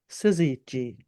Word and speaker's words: syzygy: end of the horizon, and that's called a syzygy.